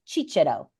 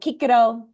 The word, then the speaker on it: Cicero: Kiko but then the Italians would say Chicho right so that soft sea so I use Cicero because there's two C's in there right so Kiko uh Chicho in Italian or ecclesiastical or medieval pronunciation and a lot of